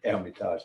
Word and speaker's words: Hermitage: h that's simply because the french don't pronounce the h when they're saying airmetals so sometimes it's spelled